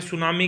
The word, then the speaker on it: tsunami: टी यहाँ पे क्या होता है? साइलेंट होता है।